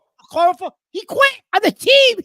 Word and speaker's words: Okorafor: How do you pronounce Okafor? Okorafor.